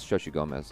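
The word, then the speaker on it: Xochitl Gomez: Oh, Shoshi Gomez from Doctor Strange in the Multiverse of Madness is pronounced as Shoshi Gomez.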